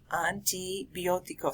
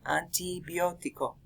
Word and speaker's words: antibiótico: Make sure that you pronounce them with Spanish pronunciation rather than English pronunciation.